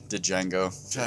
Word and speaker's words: Django: Then Django. It up. And the then, D is silent.